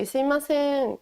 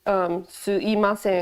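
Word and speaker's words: すみません: something, you can say sumimasen. It's also pronounced suimasen, it's just easier to say. But it's spelled sumimasen.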